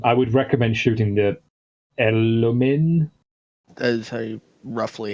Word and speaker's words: Elomin: Anyway, point being, Bane, I would recommend shooting the Elomin, That is roughly how you pronounce that, yeah.